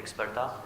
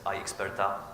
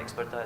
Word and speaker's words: Ixperta: My name is from company Ixperta. I'm glad that pronunciation was good because in many cases customer pronounce it as Ixperta because it's somehow probably connected with iPhone or iPad. So I'm from company Ixperta, as I said, and